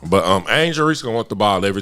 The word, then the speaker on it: Angel Reese: Angela Reese gonna want the ball every time. Angel That Reese? ain't her name. Oh, Angel. Yeah, whatever. But yeah, I'm sorry to say your name wrong. But Angel Reese gonna want the ball